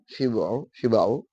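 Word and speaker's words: شبع: la'allaka taqulu, boleh jadi kamu mengatakan qad shara syab'u, syab'u bacanya syib'u wal iktsaru fil akli adatan.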